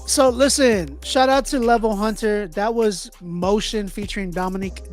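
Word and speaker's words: LVL Hunter: So if y'all want to check it out, it's spelled LVL and then the word Hunter, HUNTER. That is the artist name, Level Hunter.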